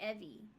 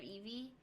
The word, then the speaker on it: Eebee: they call me Evie. Evie. Yeah, instead of Eevee.